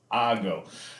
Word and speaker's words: hago: is yo go again pronunciation that H disappears that H sound disappears yo hago the next one is